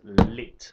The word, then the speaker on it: lit: that's right we said bed was lit I don't think you pronounced the T but it's it's spelled l-i-t so we were saying